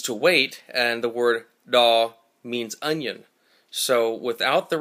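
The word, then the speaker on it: tos: T-O-S is pronounced daw. The tongue in the D sound is compressed up against the front two teeth and the top of the mouth, the top of the alveolar ridge, much like this.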